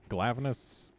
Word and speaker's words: Glavenus: It was like Glavenus, except it was like meant to be a rhyme with gladius or something to that effect. It seems like it would be glaive, but I'm pretty sure they said in a localization thing that it was not from glaive, it was from gladius.